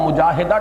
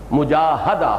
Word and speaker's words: مجاہدہ: گی۔ جہد سے مجاہدہ، اصل میں ہم مجاہدہ کہہ دیتے ہیں، عربی میں اس کا تلفظ مجاہدہ ہوگا، اس لیے کہ یہ باب ہے مفاعلہ۔ اور اسی کا جہاد۔